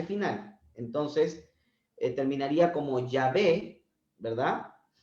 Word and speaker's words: Yahvé: Inclusive las versiones católicas lo que hacen es quitar la H intermedia, porque tampoco se pronuncia en el español. Y al final escriben Yahvé, Y-A-B, Y-A-V-E, con tilde, ¿no?